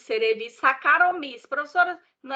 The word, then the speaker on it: cerevisiae: Cerevisiae. Quando uma vogal, quando um A, ele é precedido, ou ele vem acompanhado de um E, depois você não pronuncia esse A aqui. Você pronuncia só o E.